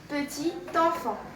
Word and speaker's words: petit enfant: voyez ici, on a petit, T, une consonne muette. Ici, petit enfant se prononce petit enfant.